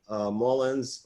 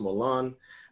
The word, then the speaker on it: Moulins: We have Paul Moulins, or as it's correctly pronounced, Moulins.